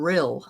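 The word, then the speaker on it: Rhyl: But um anyway, well that's cool to know, Garnet, because that's my grandfather was from real. I think that's how you say it. R Y R R H Y L real Wales I believe.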